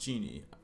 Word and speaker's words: Jinn: How is it pronounced? Ginny. I'm trying to look up. Okay, so genie. It's pronounced genie.